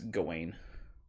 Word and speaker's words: Gawain: son of god wine i think it's gawain that's how you'd say it i hate that because it's spelled god wine i could be wrong